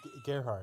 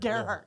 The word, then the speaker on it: Gerhardt: We have Gerhardt with us tonight. Did I pronounce your name? Gerhardt. Gerhardt. Yeah. Gerhardt.